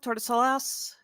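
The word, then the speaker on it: Tordesillas: there TR of uh toris Salah toris Salas sure t t o r d e s i l l a s pronounce that however you want uh the where's it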